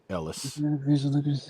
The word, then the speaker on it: Elias: Ellis. Oh, Ellis. Yeah, sorry. Yeah, it said it. It's spelled Elias, but it said Ellis.